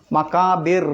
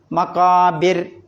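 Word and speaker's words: المقابر: ഉച്ചരിക്കുക അങ്ങനെ ഉച്ചരിക്കണം എന്നാണ് അപ്പൊ ഓതേണ്ടത് മക്കാബിർ എന്നല്ല മക്കാബിർ മക്കാബിർ എന്ന ഉച്ചാരണമാണ് വരുക അതാണ് ഒന്ന് ശ്രദ്ധിക്കാനുള്ളത് പിന്നെ താലമൂൻ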